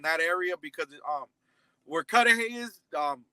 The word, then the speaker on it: Cudahy: i'm not even sure i don't want to mispronounce it it's called cudahy cudahy okay gotcha cudahy is in south los